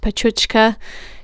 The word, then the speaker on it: Pecha Kucha: uses the 2020 format the phrase pecha kucha sometimes pronounced petruchika translates to chit chat